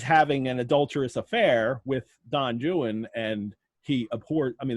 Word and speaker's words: Don Juan: time and um and i keep saying don joon because i know that's how it's pronounced and it's rhymed that way in the poem too and it's not from